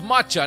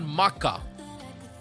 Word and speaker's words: matcha: Wait, it's matcha, not maka.